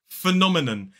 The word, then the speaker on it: phenomenon: 4 syllables, the stress falls on the second. So it's the second stressed syllable is o, Then we have a short I vowel sound, and then it ends in a schwa and a phenomenon. I hear a lot of people saying phenomenon, and ending in a kind of sound rather than a sound. So this is phenomenon.